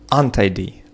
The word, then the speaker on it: untidy: Untidy, untidy, untidy, untidy. Ударение на слог второй. Untidy, untidy. Часто бывает, когда у вас есть префикс, то ударение падает после префикса на корень слова tidy, на tidy.